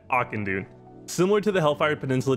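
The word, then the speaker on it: Auchindoun: forest with the quest the spirit of akin dune and i know that's how you say it because i pulled my youtube and this is how they said you say it akandoon similar to the hellfire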